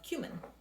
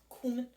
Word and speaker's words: cumin: Not cumin. Not cumin. It's cumin. I don't remember where I heard somebody call it cumin, and it was, no, that's not how it's pronounced. Cumin. Or cumin. As long as it's not cumin.